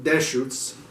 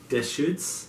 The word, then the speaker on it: Deschutes: try to pronounce this I think it's pronounced - shoots dish shoots yeah if you can